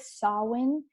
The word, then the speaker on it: Samhain: The way it's pronounced is different than how it's spelled, if you ask me. But it's like Samhain, I think is how you pronounce it.